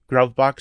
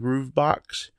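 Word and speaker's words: gruvbox: Somebody told me that this is not pronounced Grubbox, it's called Groovebox. I'm just gonna call it Grubbox because that's the way I've always pronounced it.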